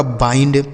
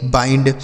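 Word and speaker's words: bind: ये लिखा गया आपका बाइंड बी आई एन डी बाइंड सी एच आई एल डी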